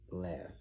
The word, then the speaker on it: laugh: Laugh. Why do all the GHs sound like Fs? Don't come back. Come back. I'm just asking. Why do they sound like Fs? Why they just didn't put an F?